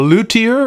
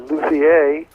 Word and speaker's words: luthier: Is that pronounced or luthier, or what? How do you say that? Well, I think it's a French word, so they probably originally said luthier. Luthier. But here in America, we just say luthier, and okay.